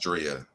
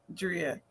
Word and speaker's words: Drea: It is pronounced Drea. I've been calling you Miss Drea all this time. You see, I said it right, Drea.